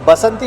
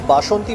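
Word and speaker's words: বাসন্তী: This is basanti pulao, or in Bengali pronunciation is bashonti pulao.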